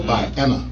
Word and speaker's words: Vienna: Yeah, Viana High. Oh, what is it? How you spell it? VIENNA. See, I thought you said violent high, like you went to a violent high school. Vienna.